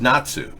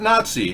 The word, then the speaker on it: Nazi: German pronunciation is Natsu. Not Nazi, Natsu.